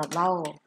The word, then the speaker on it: bow: Dạ, nhưng mà danh từ hình như đọc là bow đó.